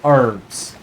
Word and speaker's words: herbs: It's just a bunch of herbs though. Or herbs. If you are American, I believe. Or we don't pronounce the cage.